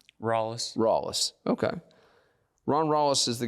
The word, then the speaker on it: Rallis: Rallis. I hear it a million different ways. What's the proper Greenville pronunciation? Rallis.